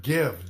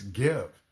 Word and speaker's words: give: So, two examples, the word give, gi, the e at the end is silent. There's a consonant before it, but the I does not say its own name. It's give.